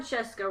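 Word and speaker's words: Scieszka: the jacket that says John Cheska rhymes with Fresca nothing lucky for him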